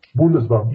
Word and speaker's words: Bundesbank: Is that how you pronounce it? Bundesbank? Bundesbank, yes.